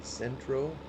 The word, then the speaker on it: Xentro: But his name was Centro. It's spelled Xentro, and he had made a number of scripts, Lewis scripts in various mods.